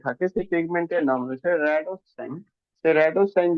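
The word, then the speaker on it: rhodopsin: র্যাডোসপি, র্যাডোস, P silent রয়েছে, র্যাডোসাইন, ঠিক আছে, র্যাডোসাইন পিগমেন্ট পাওয়া যায়।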